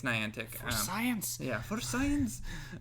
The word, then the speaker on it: Niantic: Uh, nickel antics because Ni Niantic, I think of the periodic table as the Ni and then antic. So, Nickel Antic, but it's Niantic.